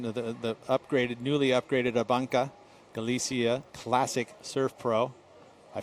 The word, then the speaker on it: ABANCA: of this one the the upgraded newly upgraded ah bunka galicia classic surf Pro I finally figured out